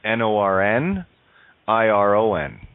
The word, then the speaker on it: Norn Iron: it funny with it Northern Irish accent you can spell with a Brogue you would pronounce it n o RN iro n norn iron okay is know funny